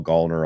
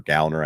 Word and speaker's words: Gallner: I've grown to like Kyle Gallner a lot here, or Gallner, I believe is how he pronounces it, a lot here over the last number of years.